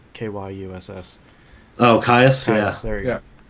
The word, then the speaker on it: Kyuss: And then of course anything from, I don't know how you pronounce it, Kyuss, Kyuss. Oh, Caius, yeah.